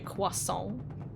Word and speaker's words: croissant: how you don't, like, when you say croissant, you know, like croissant, you're supposed to say croissant. Like, you don't pronounce the T and stuff like that.